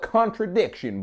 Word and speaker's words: Khantrydiction: I wasn't 100% sure on how to pronounce this so I did ask Rod just to be clear but I also know he's from Alabama so I'mma just play it safe and call it contradiction boy what's